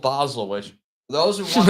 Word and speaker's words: Basel: how you spell it but the club because it's pronounced in German is Basel so so I literally